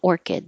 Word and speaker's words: orchid: It's a type of orchid, the Phalaenopsis orchid. And if you see the word orchid, the CH is a K.